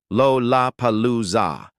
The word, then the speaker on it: Lollapalooza: If challenged soldiers pronounced the first two syllables as Rora, sentries would open fire without waiting for the remainder. Lollapalooza represented an ideal choice. 4 L sounds in rapid succession, Lo-la-palooza, each presenting difficulty for Japanese speakers.